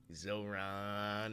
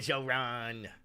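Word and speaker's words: Zohran: I have Zoron, not Zoran.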